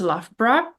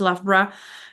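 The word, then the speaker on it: Loughborough: UK I knew that my university is pronounced lafra somewhere in Midlands the spelling definitely does not suggest it's supposed to be pronounced lavra and then we had to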